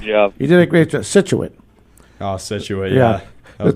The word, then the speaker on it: Scituate: correct but we all but all of us slang it we call it it's pronounced scituate yeah but i i